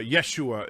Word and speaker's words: Yeshua: each year well then jesus comes along or yeshua if you prefer the proper pronunciation and jesus comes in and performs the